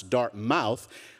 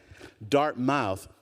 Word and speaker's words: Dartmouth: la-di-da professor at some school that they still pronounce Dartmouth, all the years that I've been here, I could never get my family to say, you got the accent on the wrong, forget it. Dartmouth.